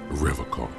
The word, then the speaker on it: Revachol: He pronounces Revachol with a hard K, unlike other people.